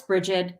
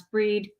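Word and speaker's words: Brigid: The other thing is because Goddess Bridget, Goddess Breed, depending on how you say it, depends on where you're from, but she is also over poetry.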